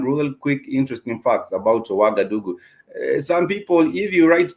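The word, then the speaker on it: Ouagadougou: with us some real quick interesting facts about wagadugu some people if you write down wagadugu and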